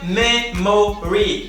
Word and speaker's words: memory: Ou seja, não é memory com 3 sílabas, mas apenas 2. Memory.